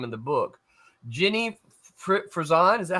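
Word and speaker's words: Frison: Jenny Fzison, is that how you say it?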